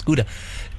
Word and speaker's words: Gouda: Do you mean Gouda? Gouda. It's Gouda. Gouda. No, it's Gouda, and I tell you why it's Gouda, because we have a joke in our house. I'm 1/8 Dutch.